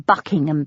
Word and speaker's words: Buckingham: I wanted to say, "No, we don't pronounce the ham in Buckingham Palace."